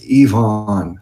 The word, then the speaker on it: Ivan: He says his name is pronounced Yvonne. I guess it's Yvonne.